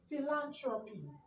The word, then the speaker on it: philanthropy: Now, for example, look at this word, philanthropy. It has four syllables.